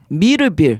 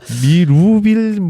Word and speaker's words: 미르빌: 부르긴 편한데 좀 발음이 조금 어려워서. 미루빌 이렇게 막 해서 경상도 사람들 발음 안 되는. 네. 미러빌. 좀 그런 경우도 있고 해서 어디 기관 얘기할 때 미술할 때 미에다가 뭐 르노 삼성자동차 할 때 뭐 이렇게 해야지 좀 알아들으시고. 네.